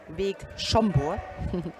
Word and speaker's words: Vég Szombor: Vég Szombor, that was the right pronunciation.